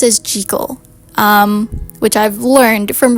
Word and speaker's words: Jekyll: I've always thought that it was pronounced as Jeekal, but it's pronounced as Jal.